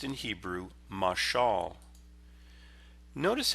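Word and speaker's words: מָשָׁל: vilhelm jenius it's a masculine noun that is pronounced in Hebrew masal notice how jenius makes this word the same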